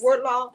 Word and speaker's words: Wardlaw: Meet and greet Wardlaw. Am I saying it right? Wardlaw? Yes. Wardlaw? Wardlaw. It's just two words.